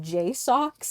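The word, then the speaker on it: JSAUX: the back is a i pronounce it J Soxs in my mind but I feel like that's not correct j s Au u x back plate and the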